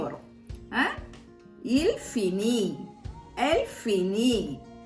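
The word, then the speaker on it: il finit: ஆனா ப்ரொனவுன்ஸே பண்றது வந்து நம்ம ஒரே மாதிரி தான் ப்ரொனவுன்ஸ் பண்ணணும். புரியுதா? நான் தே போட்டாலும் இங்க எப்படி ப்ரொனவுன்ஸ் பண்றேன்? இல் ஃபினி, எல் ஃபினி, ஓ ஃபினி அப்படிதான் ப்ரொனவுன்ஸ் பண்றேன். இது வந்து நீங்க நல்லா ஞாபகம் வச்சுக்கணும்.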